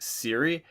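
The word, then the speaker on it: Cere: Star Wars I think her name is pronounced Siri its CER e so yeah but she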